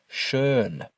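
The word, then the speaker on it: schön: Without the umlout, this word is pronounced sha and it means already. But with the umlout over the letter o, the word becomes shern which means beautiful.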